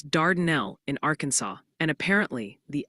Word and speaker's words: Dardanelle: They're gently reminding us it's Dardanelle in Arkansas, and apparently the L is silent in Gamaliel, Kentucky, making it Gamaliel.